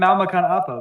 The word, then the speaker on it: Makan Apa: Well, it's pronounced Makan Appa, but this is a Makan calendar Appa.